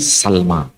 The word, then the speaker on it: Sulaim: sekarang Bani Sulaiman tapi pelafalannya bukan slime tapi Salma dan ini bukan bahasa